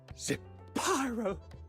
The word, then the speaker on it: Zapyro: Zapyro, 3 syllables of pure poetry.